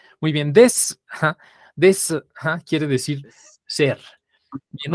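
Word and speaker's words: です: ver ahora el verbo recuerdan que la u cuando está cuando la palabra termina en su está uno se va a escuchar Entonces cómo se va vamos a decir ser y vamos a repetirlo todos test this O sea la u De plano se perdió ahí muy bien des Ajá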